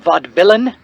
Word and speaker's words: Vaudevillain: tonight only the vaudevillian it's pronounced vod villain where are you i'm